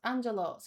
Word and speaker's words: Angelos: In English, my name is pronounced Angelos, so you can call me that.